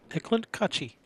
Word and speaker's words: Eklent Kaci: have yeah we know we asked him how do you say your name he said hey Clint coochie yeah well maybe it's